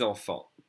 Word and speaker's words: enfants: 6 enfants. And of course, with the word enfant, you don't hear the TS. The AN together is pronounced en.